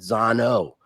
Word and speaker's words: Zano: does it pronounced and per them it's supposed but it's like a tomato tomato thing but they call it Zano but actually they call it zan with the Russian accents I don't know it's I'm like asking how to pronounce it and they're telling me zanana and I'm like well it doesn't end with an a yeah is it Zano